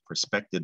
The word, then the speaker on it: perspective: we've got the IVE perspective. And again, just a reminder, silent E rule doesn't apply here. It's perspective, that's a short I at the end, but the E is there. Perspective.